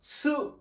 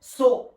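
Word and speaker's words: す: সা, শি, সু, সে, সো, তা, চি, সু, সু, তে, তো। এটা হলো সু। সুমন্তর সু। আর এটা হলো সু। আপনার জিভের মাথা থেকে বাতাস বের হবে, সু সু সু।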